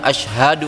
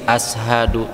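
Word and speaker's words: أشهد: Asyhadu hanya panjang, harusnya asyhadu langsung ya gitu ya. Terus juga saya juga nambahkan Ustaz, ada yang salah di pengucapan shin. Nah, itu kan masalah aksara ya. Harusnya shin, nah, jadinya sin, ashadu.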